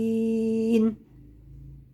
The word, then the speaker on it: الضالين: عرفتم يعني ايه حركه ولا الضالين مد لازم ست حركات عندي الف ماديه وجاي وراها حرف مشدد اللي هو اللام الحرف المشدد يبقى بدايته شد سكون